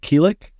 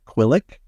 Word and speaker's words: Keelik: I am GM Keelik. Yes, that is the correct pronunciation. I am not Quillik.